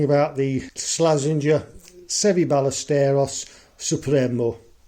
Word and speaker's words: Supremo: and then came back supro supro Supremo not supro Supremo Supremo okay good club let's see s hit a five must be a three huh so there we are the pronunciation is Supremo let's start with the